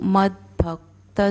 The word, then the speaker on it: मद्भक्तः: अब यहाँ पर द पूरा दिख रहा है पर द हमें आधा बोलना है, भ पूरा बोलना है और त के बाद भी जो विसर्ग है उसका उच्चारण स होगा क्योंकि अगला जो शब्द है वो अक्षर है वो स है।